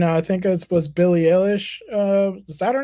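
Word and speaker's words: Eilish: think it was Billy Alish uh is that her name Billy Alish how do you say Billy ish is eish all right iish yeah iish yes that lady uh said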